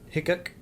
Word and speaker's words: Hickok: Hickok, Oh, that's how you say it.